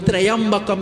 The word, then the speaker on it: Trayambakam: Om Trambakam Yajamahi. Om Trayambakam Yajamahi.